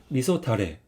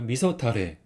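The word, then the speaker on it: 味噌だれ: 주세요 카라시네 카라시 그다음은 이거는 유자 후추라는 소스입니다 발음은 유즈코쇼고 있습니다 따라해 주세요 유즈코쇼 유즈코쇼 세 번째는 이거는 알죠 된장이 된장 소스 그래서 미소 타레 따라주세요 미소 타레 미소 타레네 그다음에 또 우뎅 주문할 때 좀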